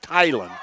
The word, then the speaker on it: Thielen: He came up and it's spelled like Thielen, but he said it's pronounced Tylen.